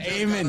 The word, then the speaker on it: Amen: said it right, but you made a slight mistake. Oh no! Amen. What did I do? No. It's Amen. What did I say? You said Amen. Right, so I blew the whole thing, Tommy.